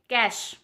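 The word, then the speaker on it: cache: हम सब पढ़ते हैं, कैच आया, कैच आया, है ना, तो वो कैच नहीं है, उससे हम प्रोनाउंस करेंगे कैश, कैश, जिसका मीनिंग होता है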